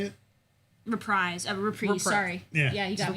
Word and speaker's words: Reprise: Reprise.